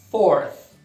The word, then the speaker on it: fourth: 4, four, quarto, fourth. Fourth. Também pode ser um pouquinho difícil de botar o TH no final sozinho aí, né? Acaba no fourth.